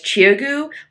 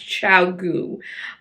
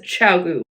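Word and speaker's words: ChiaoGoo: brand of needles for a long time as chiu but I guess it's actually pronounced chiau uh so yeah throughout the rest of this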